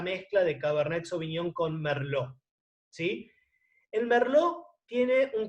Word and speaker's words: Merlot: si recuerden que es se escribe con té final pero no se pronuncia merlo el merlot es una